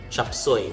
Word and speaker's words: chop suey: The letter U after the S in the second syllable or the second word has the elder brother oo. So that's why you say chop suey. Chop suey. And the last vowel sound, the letter E, has been assigned the sound E, long E.